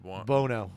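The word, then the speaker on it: Buono: Bono, how do you pronounce that? Bono.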